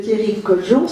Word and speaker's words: Thierry Coljon: Monsieur Thierry Coljon, c'est comme ça qu'on prononce? Oui. C'est français, tout à fait.